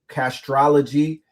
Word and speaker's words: Castrology: groundbreaking app, okay, for Castrology for Life? How do you pronounce that? Castrology or? It's Castrology, just astrology in the front. Castrology for Life, just astrology with the C in front.